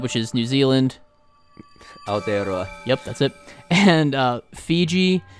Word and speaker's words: Aotearoa: Aotearoa.